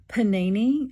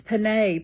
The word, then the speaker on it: Penne: come on and say uh I apologize for mispronouncing the word to my video today and I kept calling the pasta Panini like I was cooking on a panini press or something um when clearly it's pan pasta that I was using and I know